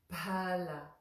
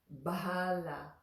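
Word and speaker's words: फल: And so there is a letter in the Sanskrit alphabet which is PH, Pa, like the word for fruit, for instance, is phala, phala, not bahala.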